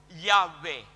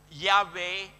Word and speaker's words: Yahweh: Yah is breathing in.